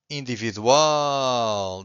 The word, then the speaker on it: individual: If you have a word that ends with an L, if the word ends with an L, you have to stress the final syllable, okay? Universal or individual.